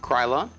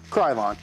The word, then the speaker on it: Krylon: kind is it it's a how do you pronounce that Chiron Krylon Krylon all right so cryoline fusion um matte Glacier